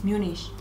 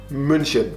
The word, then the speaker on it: München: Creo que en Latinoamérica a veces le dicen Múnich, pero no es correcto, ¿verdad? Múnich es como las estados, las gringos. Ah, pero realmente se pronuncia München.